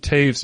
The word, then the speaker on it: Taves: This is Hometown Glory by Taves. Is that how you say it? Like Jonathan Taves? Yes, it is. Okay, it's spelled the same.